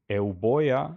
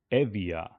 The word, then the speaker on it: Euboea: correctly, but either way, B or sound B became pronounced as V, softer, like V. B became V. So, so let's see the name Euboea, or as it was pronounced in ancient Greek, I believe, Euboea became Evia.